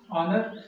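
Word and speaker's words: honour: वैसे तो इसको नॉर्मल वे में तो हम इसको ऑनर पढ़ेंगे, लेकिन ऑनर एच साइलेंट रहता है, इसलिए इसको हम ऑनर पढ़ते हैं।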